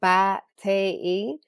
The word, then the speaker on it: Batey: Batey is pronounced Batei.